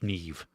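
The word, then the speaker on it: Niamh: like an Irish neve, you know, I never would have thought that that was n a i mh was ne.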